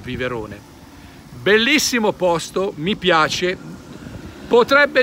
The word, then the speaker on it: Viverone: sul lago di di viberone con la b anche se si scrive V con la Viverone bellissimo posto mi piace